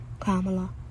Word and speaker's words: Kamala: We were taught to pronounce our letters, so it'd be like Kamala would be K-A-H, Mala, M-A-H-L-A-H, I think, Kamala, so that's Kamala to us, so.